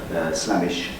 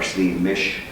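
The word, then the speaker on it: Slemish: So he was a slave, and that's an image of Slamish or Sliamish. There are different pronunciations and different ways of telling it.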